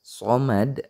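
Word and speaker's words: صمد: Allahus samad. Nah, somad sama dengan ayat yang pertama. Itu juga harus dipantulkan gitu ya. Namanya qalqalah kubro.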